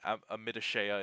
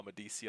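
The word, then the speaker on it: Amadicia: But yeah, I just called it Amidishea in my head, and then when I heard the audiobook readers be like blah blah blah Amadecia, I was like, oh my god, that was how you pronounced it.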